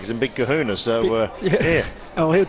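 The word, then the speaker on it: Colquhoun: during the week that it's pronounced kahun we thought it was koun or Calhoun but his dad actually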